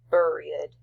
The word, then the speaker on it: buried: And when you examine the rhyme, which is C, me, B, so A, with head, dead, and buried, it should be pronounced buried, to rhyme, is BBB.